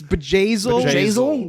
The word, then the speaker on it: Bjayzl: And then I guess it's Bezazel. Bezazel. It's Bejazel.